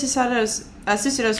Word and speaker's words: Susato: I wonder what Miss Susato's father is hiding. I think I've been pronouncing it wrong this whole time. I was pronouncing it like it was Italian.